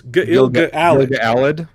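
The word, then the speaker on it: Gil-galad: and all of last season, he was it's pronounced Gilgalad. It's Gilgalad. Gilgalad. They double pronounce every syllable.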